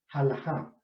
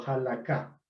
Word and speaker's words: Halajá: El primer tipo de Midrash es el Midrash Halajá o Halaká. Halaká o Halajá. Depende un poco cómo se pronuncia la última consonante.